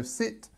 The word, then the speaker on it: sit: past what somebody did so sit is this I for present and then a sound for past um also make sure